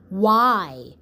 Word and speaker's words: why: The word is why. Why. And the sounds are w, I. Why. W, I. Why. You will notice that the letter Y in the word why sounds like I for ice cream.